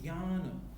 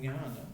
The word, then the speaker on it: jnana: This is purely nasal sound, actually. Yeah. So if you ask a Malayali person, you'll get to know. Yeah. So it's a very nasal, Jnana, something like that.